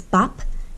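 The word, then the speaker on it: 밥: It's bap, but you can see biup used twice here. At the beginning, it's like a b, ba, and at the end, a p, bap.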